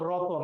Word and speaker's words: রত্ন: হয় এমন যে রত্ন, এখানে তয়ের নিচে হস দেয়া, তার মানে এখানে অ নেই। যখন এইটা উচ্চারণ করব তখন এর উচ্চারণ হচ্ছে রতন, তার মানে এখানে তয়ের সাথে একটা অ আছে।